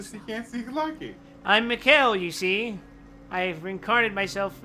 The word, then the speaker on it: Mikhail: at least pronounce it Mikhail.